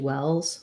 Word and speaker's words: wells: um in wells um i don't think that l is silent um like i have a well and i have two wells wells um it is a maybe a dark l well oh well um i'm